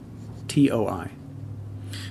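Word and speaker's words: thôi: d d like that the th however is aspirated if you think of how we pronounce the name tom in english a vietnamese phonetic spelling would be t-h-o-m and it would be pronounced tom i had a vietnamese teacher who showed my class the difference between the t without the h and the t with the h by holding a piece of paper up to his mouth while pronouncing the two different t's i'll demonstrate that now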